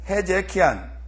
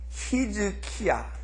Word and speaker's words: 히즈키야: 그러니까 우리 지금 한글은 히브리어적인 표현을 따랐고 헬라어적인 표현을 따르지 않았어요.